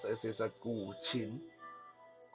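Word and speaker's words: guqin: lot of people uh i know like to pronounce that gusting uh gutting or gutsing uh all kind of weird uh pronunciation but the proper way to pronounce this is a gulchin right g-o-o and then shin c-h-i-n-g now that's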